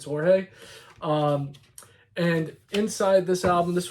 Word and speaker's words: Jorge: On the back, you've got a lovely picture of Jorge or George, depending upon how you want to pronounce it, but it's Jorge.